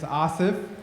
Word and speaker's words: Asif: For those of you who don't know me, my name is Asif, right? It's spelled A-S-I-F, like as if.